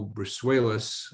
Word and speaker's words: Brusuelas: And one day we had Joe Brusuelas, that's how he pronounces it, the chief economist for RSM, talk about the world's economy.